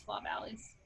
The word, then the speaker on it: Flaw Valleys: flaw valleys law valleys i'm wondering if you actually pronounce it that way sometimes there's location names in britain in scotland that our american english pronounces it looks like a regular word but you pronounce it a completely different way i the uh scottish audiobook reader says flaw valleys okay i will take